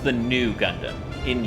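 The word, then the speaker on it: ν: It's pronounced the new Gundam, in U.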